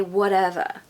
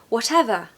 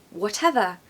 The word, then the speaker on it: whatever: So if I was American, I'd say whatever, whatever. But I'm not, I'm British. And we do pronounce the T, especially when there's 2 T's.